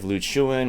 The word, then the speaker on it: Ryukyu: Since time immemorial, Okinawa was a peaceful, prosperous, independent nation known as Ryukyu, and Ryukyu is the correct native pronunciation.